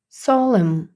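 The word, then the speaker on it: solemn: вже всі зможете прочитати солимо солим N не читається наразі в нас лишається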